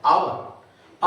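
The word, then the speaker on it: hour: लिखने में होता है एच से स्टार्ट करते हैं एच ओ यू आर आवर honest लिखते हैं एच से लेकिन बोलते हैं हर नहीं बोलते हैं इसलिए एच का उच्चारण ह भी हो गया, अ भी हो गया।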